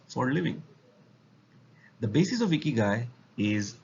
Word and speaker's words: ikigai: so let's find out ikigai is pronounced as e guy it's a japanese concept